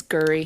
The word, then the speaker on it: Gery: Although Paula develops feelings for Jerry, it's spelled Gery, so I'm guessing Jerry. Jerry. It's Gurry. Yeah, Gurry.